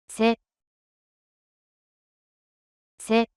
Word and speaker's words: せ: せ、せ、 The pronunciation of character se in Japanese is something like the combination of SCH in English.